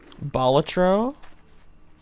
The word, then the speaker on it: Balatro: Balatro? Ooh. Did you know that's how it's pronounced?